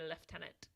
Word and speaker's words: lieutenant: They pronounce when in British English they say Lieutenant.